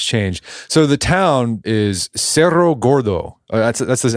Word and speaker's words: Cerro Gordo: So the town is Serero Gordo. That's that's the How do you That's how do you say the American version? Is it just Sarra Gordto? Yeah, Sarraordo is usually how I say it, which is